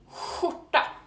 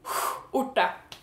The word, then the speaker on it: skjorta: shirt, and that is skjorta. And it's spelled like this, SKJ. And KJ is sh, SKJ is whoo. So that's kind of like when you get scared and you're like, whoo, like, good thing we didn't die.